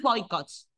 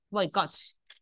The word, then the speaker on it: boicots: Lo mismo con boicots, tic tacs, robots. Si la aguda boicots, porque no es boicots, boicots, termina en grupo de consonantes.